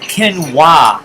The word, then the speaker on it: quinoa: granola with that stuff ken wah is how you pronounce I always thought it was - no but it's quinoa it's another superfood and